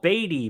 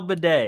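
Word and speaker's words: Badie: and the thing is it's spelled b a d i e so in my head I'm like oh batty baddy like something and they're like no bed I'm like damn he's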